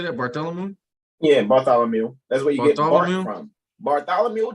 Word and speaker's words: Bartholomew: zabidi wisdom or judgment John love Philip power barthelium Bartholomew how do you say that Bartholomew yeah Bartholomew J Simpson that's Mark yeah thank